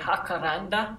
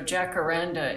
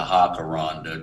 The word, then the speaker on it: jacaranda: language um oh so jacaranda is um you pronounce the j these are from my